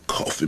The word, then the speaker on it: Coffey: John Coffey, ma'am. Like the drink? Only no. Not spelled the same.